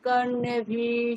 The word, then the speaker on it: কর্ণেভিঃ: ওং ভদ্রং কর্ণেভিঃ শৃণুয়াম। একারগুলো দীর্ঘ, হ্যাঁ, কর্ণে একার দীর্ঘ।